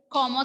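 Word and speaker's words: comment: Pronunciation will be K. Remember the word como ça va?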